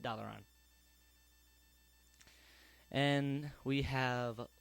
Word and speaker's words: Dalaran: he came up to what's pronounced Dalaran. I have not really heard it pronounced any other way until Trade Chat came up. And that's how she likes to say it, and that's how she says it, and I say it Dalaran.